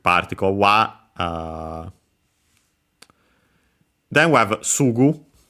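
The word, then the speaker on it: すぐ: Then we have Sugu. Sugu should be accent on the first more, as I mentioned.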